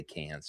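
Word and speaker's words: Cannes: I believe you say Khan. Khan. I like to say cans just because he'll tell you how to say it.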